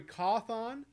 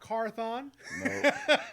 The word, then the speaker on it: Cawthon: Corey Cawthon, There you go. not Carthon.